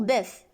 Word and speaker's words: boeuf: slf on prononce f la même chose pour boeuf on prononce f protection du n9 end